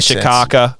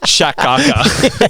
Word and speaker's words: Shaka: the down here either Shaka or spell it s h a it's like Shaka like Chuck in the Shaka um you could have